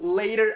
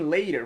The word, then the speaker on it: later: Então, later aqui também, later. Você não pronuncia later. Geralmente é um som de R.